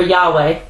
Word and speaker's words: Yahweh: h368 now it says YH wh which is pronounced Yahweh it says Jehovah then it says it's the